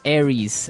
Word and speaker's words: Aries: And uh so it's pronounced Aries. Aries.